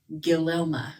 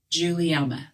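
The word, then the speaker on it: Guglielma: l m a and if I hadn't already heard it said I would definitely have pronounced that like gililma or something right yeah um but instead this time I 100 know you Google that how to pronounce it Juliana that G is like a j that's what I mean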